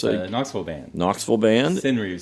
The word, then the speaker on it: senryu: Indian Summer by the band Sinru, which you've recorded here in this studio before. And it's a Knoxville band. Knoxville band. Sinru, spell that.